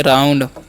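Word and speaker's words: round: उसी प्रकार से आर का उच्चारण र, और OU का आव तो हो गया राउ, एन से अंसुआ, डी से रत हो गया राउंड।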